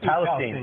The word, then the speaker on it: Palestine: The correct way to say it is, Palestine.